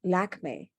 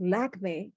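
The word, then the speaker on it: Lakmé: in india is named lakme after this french opera without them realizing that lakme is the french mispronunciation of the indian word for the goddess lakshmi and so you can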